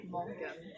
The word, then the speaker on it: Morgen: And for example, good morning would be guten Morgen. Guten Morgen. So the Morgen is the R. It's spelled. It's the R. It's not like the Indonesian R. It's not Morgen. It's Morgen. It's a bit, Morgen.